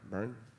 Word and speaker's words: Byrne: man over Mars uh James Byrne burn I believe is how you say his last name uh great artist a